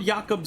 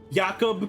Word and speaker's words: Jakob: Because in my head, I'm just like, oh, I'm gonna pronounce this like in a Norse fashion, so the J is a Y.